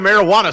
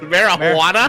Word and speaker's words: marijuana: Marijuana? Marijuana. Marijuana. Because the J's for Americans back then, they didn't know the J made the huh sound.